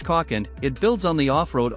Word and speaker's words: Kalk: model to the UK called the kcock and pronounced caulken it builds on the off-road only caught with